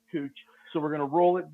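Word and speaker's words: couching: this part is called cooching and um that is a french word that's spelled like the american word couch but it's pronounced cooch so we're gonna roll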